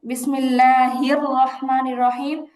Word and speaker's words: বিসমিল্লাহির রাহমানির রাহিম: বিসমিল্লাহির রাহমানির রাহিম। হাটা স্পষ্ট ধরবে। এই জায়গাটা স্পষ্ট উচ্চারণ করতে হবে।